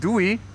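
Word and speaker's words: doei: Dwey in Dutch. D O E Y pronounced Dwey is the equivalent of by.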